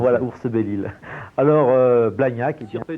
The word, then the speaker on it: Oursbelille: Exactement, je tiens à signaler que c'est Ours-Belle-Île, et non pas Oursebille, comme je l'ai dit dans la foule du reportage.